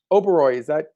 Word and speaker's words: Oberoi: Oberoi, did I pronounce that correctly?